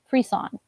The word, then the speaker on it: frisson: Spelled like Frisian, it kind of looks like with S's. But it's a French term meaning aesthetic chills. Frisson is how you say it. Yes, frisson is how you're supposed to say it.